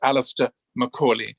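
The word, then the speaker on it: Alastair Macaulay: works and if you want to check the pronunciation of my name it's alistair macaulay but when i visited india it was a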